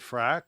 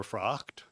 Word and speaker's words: Frock: frock good morning I'm fra or frock to pronounce it correctly um I represent Grafton